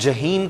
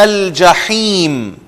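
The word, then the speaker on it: الجحيم: لَتَرَوُنَّ الْجَحِيمَ، لَتَرَوُنَّ الْجَحِيمَ، ہا کو آپ انڈر لائن کر لیں، ہم جہیم کہتے ہیں جو کہ غلط تلفظ ہے، لَتَرَوُنَّ الْجَحِيمَ، تو بے شک یہ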